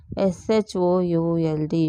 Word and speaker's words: should: S H O U L D. Should L is silent.